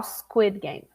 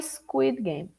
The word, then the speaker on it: Squid Game: Most people pronounce this, many people pronounce this incorrectly, saying, many people saw a Squid Game. A Squid Game. A Squid Game. Including an I before the S.